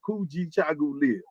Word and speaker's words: Kujichagulia: We got Kujichagulia, and it sounds just like it's spelled, Kujichagulia, phonetic, self-determination, that we define ourselves, we name ourselves, we speak for ourselves, and we build for ourselves.